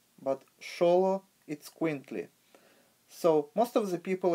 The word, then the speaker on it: Xoloitzcuintli: to call this dog but actually the correct pronunciation would be Shola it squint Li not Zola or solo but show it squint Li so most of the people as I said